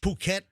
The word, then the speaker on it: Phuket: Yeah, you got to be careful cuz I want to pronounce that differently. I I I didn't know that was a pronunciation. I thought I thought it was a hard f.